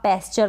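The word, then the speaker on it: pasture: अगर आप प्रैक्टिस नहीं करेंगे तो उसको आप पैस्चर पढ़ेंगे, ठीक है। पैस्चर, इसको हम पढ़ेंगे पास्चर, यानी जो ए है ना इसको आ पढ़ा जा रहा है और आधा स इस एस का बन गया पास्चर।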